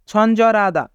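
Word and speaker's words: 친절하다: ছঞ্জরাদা ছঞ্জরাদা মানে দয়ালু এখানে রিউল বাচ্চিমের পরে হিউত থাকার কারণে হিউতের স্থানে রিউল বাচ্চিমটি যাবে তাই উচ্চারণ হবে ছঞ্জরাদা ছঞ্জরাদা মানে দয়ালু তো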